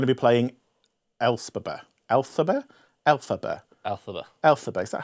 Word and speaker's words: Elphaba: Elphaba.